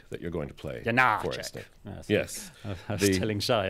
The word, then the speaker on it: Janáček: I was telling Shai earlier, Charles McCarris said you have to pronounce it eighth note and dotted quarter note. Janáček, which I'm never going to do. It's Janáček for me.